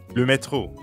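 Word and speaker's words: métro: to ask about like lumetro ah yes the subway uh-huh and the french r is in the middle of metro so it sounds like you're clearing your throat excellent now let's plug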